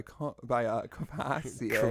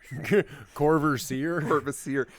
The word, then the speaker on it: Courvoisier: how is it pronounced? Courvoisier. That's how Courvoisier? I've always said it. Like the song past the Courvoisier, or you hear it in rap Courvoisier.